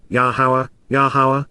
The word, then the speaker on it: Yahowah: Authoritatively asks, Naum, Yahowah, the proper pronunciation of Yahowah, our Eloah, God as directed in his Torah, teaching regarding his Ha-Yeh, existence and our Shalom, restoration.